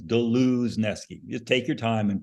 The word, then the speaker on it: Dluzneski: Gentlemen please welcome did I do it right oh God you were close it's galuzki you just pronounce all the letters it's funny because normal